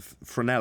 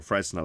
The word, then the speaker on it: Fresnel: were at that particular time arguing about the fresnel effect or fresnel effect depending on how you want to pronounce it but that was what we were